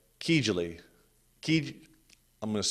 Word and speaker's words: Kijiji: Kijli. I'm going to spell it because it's such a goofy name. Kijiji.